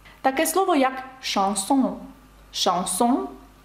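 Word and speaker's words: chanson: Таке слово як «шансон». «Шансон» – це пісня французькою мовою. І ви вже знаєте, як передається звук «ш» через сполучення «ch». Ну і ще такий приклад,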